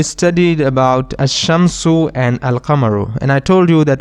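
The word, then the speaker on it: القمر: letters remember we studied about asham su and al kamaru and i told you that asham su means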